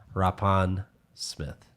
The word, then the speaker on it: Rapin-Smith: i'm really excited because we're joined by rappan smith welcome perfect that was great thank you that